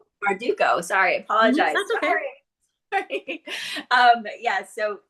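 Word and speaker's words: Bardugo: So this was my pick which was Six of Crows by Leah Berdau. How do you say it? Barduko. Barduko.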